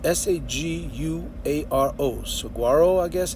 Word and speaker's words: saguaro: It's spelled S-A-G-U-A-R-O.